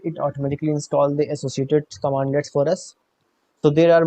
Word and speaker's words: cmdlets: While PowerShell has all the standard functionality command prompt for command prompt provides, it also provides access to CMDlets, which is pronounced as commandlets, okay, which are .NET classes to perform specific functions.